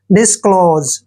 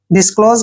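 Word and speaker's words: disclose: का उच्चारण ज करेंगे जब भी एस से पहले ओ आता है तो एस का उच्चारण ज होता है डिस्क्लोज डिस्क्लोज का मतलब होता है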